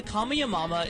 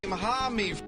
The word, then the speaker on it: Kamehameha: Look at Kamehameha. God. I mean, to be fair, it is kind of hard to, you know, if you've never heard it pronounced, I could see it being mispronounced, but still, you know.